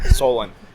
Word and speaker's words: Solon: Solon. Solon? Solon. How do you spell that?